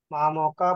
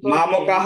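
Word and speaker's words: মামকাঃ: বলুন কুরুক্ষেত্রে সমবেতায় উৎসব মামকা পান্ডবাসব কিং অপূর্ব সঞ্চয় এত ফাস্ট বললে হবে না সন্দেহে বলতে হবে ধর্মক্ষেত্রে কুরুক্ষেত্রে কুরুক্ষেত্রে সমবেতা উৎসবহ বিসর্গ আছে নাহ আচ্ছা মামকা পান্ডবাস মামকাহ হবে মামকাহ বলুন মামকা মামকাহা মামকাহা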